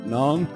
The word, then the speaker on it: non: Oh, the tourists eat it up, non? Ugh. If you're gonna pronounce non in French, don't pronounce the last N.